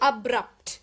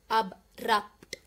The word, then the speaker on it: abrupt: So abrupt, you'll have to pronounce the B and P as well, none are silent. Abrupt, abrupt, Okay, so here's the jumbled letters that I suggested in the previous lesson.